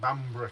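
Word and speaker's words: Bamburgh: Bamba bambar bambar yeah cuz we always call it bambra castle bber Yeah B bamb right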